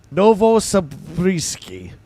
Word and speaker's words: Novosibirsk: Novosibirsk is how you say it.